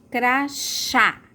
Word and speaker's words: crachá: Agora, aqui embaixo, crachá. Qual a sílaba mais forte? Crachá. É o chá, né? E é bem aberto, ó, chá. Então, acento agudo. Agudo porque é bem aberto, tá bom?